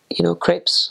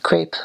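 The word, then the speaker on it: crêpe: And so he would make us, sausages and sauerkraut, and we had, crepes, of course. People say crepe, but it's a crepe.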